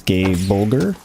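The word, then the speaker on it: Gáe Bolg: So, that's how you spell it, G-A-E-B-O-G-L-B-O-L-G. But when they say it, it sounds, it's gay bulgur. I think bulgur is more or less how they pronounce it.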